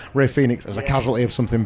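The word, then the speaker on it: Rey Fénix: R him, sorry, pronounce Ray Phoenix as a casualty of something bigger.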